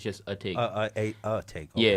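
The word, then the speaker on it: Atake: Eternal A-Take? Nah. That's the album that's supposed to come out. It's Eternal. Yeah, it's a take. It's just a take. A take. Okay. Yeah, it's pronounced a take.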